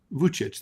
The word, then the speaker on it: Vučić: President Alexander Vučić, how do you pronounce that? Vučić, that's right. These Serbo-Croatian names are hard.